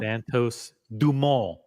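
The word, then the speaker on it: Santos-Dumont: up pull it up Santos dumal it's the way you pronounce it in French I did have three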